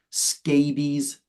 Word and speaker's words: scabies: Scabies. So it's not pronounced the same way. It's not related to a scab. Scab and scabies are different. So scabies is pronounced like rabies.